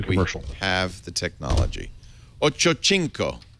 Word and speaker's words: Ochocinco: Ochocinco.